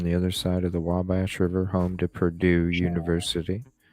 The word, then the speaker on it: Wabash: it what's it correct it's like wall w-a-l-l and then Bash oh yeah Wabash Wabash Wabash it's like uh okay